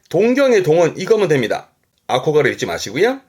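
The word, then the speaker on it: 憧れる: 발음은 그렇죠. 아코가레르.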